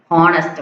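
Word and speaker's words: honest: யூஸ் பண்ணலாம் and next and is used before some height starting words in which h is not pronunciated and எங்க யூஸ் பண்ணலாமா some ஹச் சில ஹச் வச்சு start பண்ணக்கூடிய வேர்ட்ஸ்க்கு யூஸ் பண்ணலாம்.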